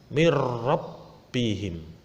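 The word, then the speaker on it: مِنْ رَبِّهِمْ: Tulisannya min rabbihim. Membacanya karena ini idgham bila gunah langsung masuk tanpa mendengung.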